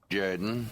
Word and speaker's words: Jordan: It's pronounced Jordan.